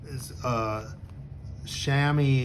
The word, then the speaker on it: chamois: So chamois is the way I've always heard it pronounced.